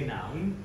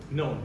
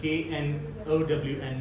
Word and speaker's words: known: For example, the word known, you say noun, and you said it 3 times. Known, K-N-O-W-N, known, you were saying noun.